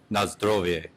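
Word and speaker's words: na zdrowie: Nazdrowie.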